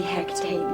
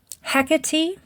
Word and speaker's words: Hecate: bring him back Mighty Hecate make it right they're actually mispronouncing the name of the Goddess they are calling on hecky is the Roman goddess